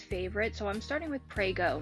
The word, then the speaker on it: Prego: so i'm starting with prego not pregu and gemmalini pasta i